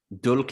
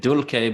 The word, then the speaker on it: dulce: So this is Dulce et decorum est. And I'm saying dulce because I use the classical Latin pronunciation. So if you're a medieval Latin speaker, you'll say dulce.